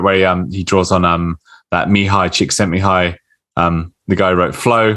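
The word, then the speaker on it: Mihaly Csikszentmihalyi: There's like a psychological argument for it, where he draws on that Mihai Csikszentmihalyi, the guy who wrote Flow that we nice.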